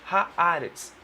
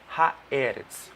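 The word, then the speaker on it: הארץ: Mas por que não é Haeretz, como nós pronunciamos? Porque vem um artigo e tem um determinado grupo de palavras que há essa mudança quando entra um artigo, quando vai para o plural.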